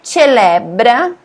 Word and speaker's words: celebra: È il giorno, di nuovo giorno, dia, che celebra, Celebra é diferente de português por causa da pronúncia, né? Quando tem o C e o E, a gente fala che.